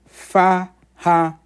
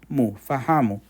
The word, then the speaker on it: fahamu: Fahamu has 3 syllables. Fahamu. Fahamu means to understand.